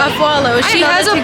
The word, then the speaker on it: Afualo: Afualo. Afualo.